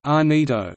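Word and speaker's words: Llanito: Gibraltarians often converse in clan ito pronounced Anita a vernacular unique to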